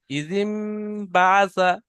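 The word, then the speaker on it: إِذِ انۢبَعَثَ: আচ্ছা, এখানে দেখেন, এখানে নুনটা উচ্চারণ হবে না, এখানে মিম পড়তে হবে, যেটা ইকলাবের কায়দা। ইজিম পড়েন। ইজিম বাসা ইজিম বাজা বাসা ইজিম বা আশকাহা।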